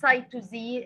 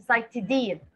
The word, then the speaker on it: cytidine: بنزود S-I-N في آخر الاسم بتاع البيورين, انما we pronounce the pyrimidine by adding a suffix din at the end. It's not cytosine, it's not cytosine, it is cytidine.